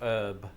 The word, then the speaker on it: herb: There was a slew of words that entered the English language via Old French that incorporated a silent H. This included honour, hour, hors d'oeuvre, and yes, herb. But Brits just stopped pronouncing it herb in, I want to say, the 19th century, because it was soon